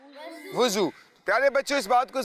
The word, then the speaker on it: وضو: جی ہاں، کچھ بچے اس کو وضو پڑھتے ہیں، کچھ اس کو وضو پڑھتے ہیں۔ درست تلفظ کیا ہے؟ وضو۔ پیارے بچوں، اس بات